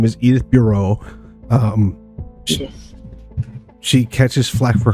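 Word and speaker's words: Burot: question's name is edith bureau um she catches flack for her last name because it's spelled b-u-r-o-t and pronounced like bureau and people tend to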